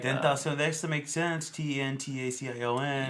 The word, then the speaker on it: XXXTentacion: I thought it was extension too, but it's a XXXTentacion. So whatever, pronounce it. I guess he's like Tentacion.